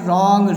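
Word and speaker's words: wrong: यहाँ पर जैसे ही आप देख सकते हैं राइट, रॉन्ग, रिस्ट, यहाँ पर W साइलेंस है।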